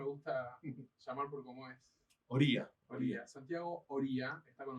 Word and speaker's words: Oría: ¿Oria o Oria? ¿Cómo se pronuncia? Es Oría, Oria, pero Santiago Oria.